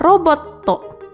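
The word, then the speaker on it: ロボット: Berikutnya adalah gambar robot atau dalam bahasa Jepang adalah roboto.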